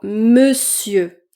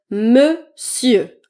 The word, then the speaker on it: monsieur: On ne prononce pas la voyelle nasale on dans monsieur. On va dire monsieur.